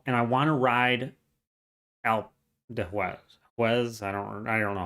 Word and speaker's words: Alpe d'Huez: and you want to go, and I want to ride Alpe d'Huez. I don't know how to say it. I'm terrible with French. Alpe d'Huez. Thank you, Alpe d'Huez.